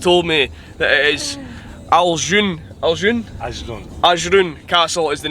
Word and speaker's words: Ajloun: Ali, has just told me that it is Ajloun Castle is the name of the castle we're going to, since I keep getting it wrong. So just stopped just short of Ajloun Castle?